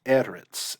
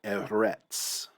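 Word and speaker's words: ארץ: Eretz, I don't really have a good mnemonic here other than Eretz might sound similar to earth. You have that E-R-T sound in both.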